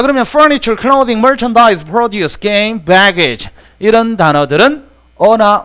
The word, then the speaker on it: produce: 그런데 여기 웬 동사가 와 있어 그러는데 produce가 produce라고 읽으면 이게 동사로서 생산하다지만 produce 이렇게 읽었을 때는 이게 농산물로 쓰입니다.